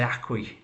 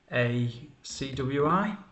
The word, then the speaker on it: ACWI: But MSCI, I think people say ACWI to pronounce that as a word rather than an acronym.